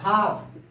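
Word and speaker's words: half: इसके है जब भी एल के पहले ए हो, यू हो और ओ हो, एल के पहले ए हो, यू हो और ओ हो तो एल का प्रोनाउंसिएशन नहीं होगा। हाफ, हाफ, टाक, टाक, इसको हम टाल्क नहीं बोलेंगे, कुछ बच्चे ऐसे बोलते हैं, टाल्क बोलते हैं, तो वह गलत है।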